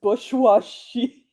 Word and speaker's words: bourgeoisie: Well, the thing is that there's a lot of letters in there that you don't pronounce because it's French. So maybe just because there's an R in there doesn't mean it's pronounced.